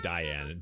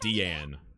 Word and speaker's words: Diane: Wait, so it's pronounced Deanne? Okay, I wanted to say Diane. Deanne.